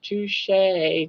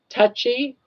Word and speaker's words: Touche: Touchy. Touchy. Yeah, they all It's always It's touche with a Y like touchy. But they uh always pronounce it with like touchy with a Y instead of touche.